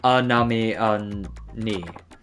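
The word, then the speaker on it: anemone: goes many an amazing please note that it's pronounced anami those colorful sea creatures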